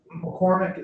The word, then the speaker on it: McCormick: But McCormick is such a common pronunciation that even my own family Okay.